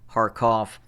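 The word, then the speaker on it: Kharkiv: see on the map call it harkev harkoff i i am used to world war ii history in which it was it was called uh harkoff and that's why i pronounce it as a as such harkeef it really doesn't make a difference to me though but uh i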